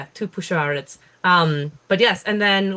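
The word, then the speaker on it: Tupuxuara: in it uh but it is uh from Brazilian Portuguese so X is pronounced as a sh noise oh yeah two push um two P two push ARS um but yes and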